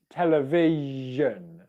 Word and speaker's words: television: the syllable before so if you listen to me say television can you hear how the sh comes at the end of the syllable before vege vision can you